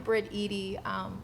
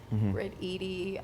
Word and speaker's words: Briteady: So I'm Briteady. A lot of people never know how to pronounce it, but think like Edie's ice cream. Briteady.